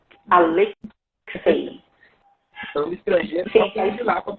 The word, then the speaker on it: Alexei: seu nome é bom o nome é russo né meu pai sempre gostou de literatura né estrangeira e viu meu nome no livro e me presenteou quando nasci né então eh lá na na na Rússia bem comum eu acredito que seja Alexi né Alexi estrangeiro lá para pronunciar